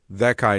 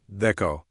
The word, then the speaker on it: thekai: The verb form should be thekai, not theko.